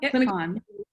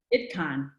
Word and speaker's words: ITQAN: You spell it out each time? Yeah. Nope, ITCON. ITCON.